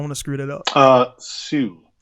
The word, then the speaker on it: Hsu: Hsu. Like Hsu. Just like the H is silent, you know.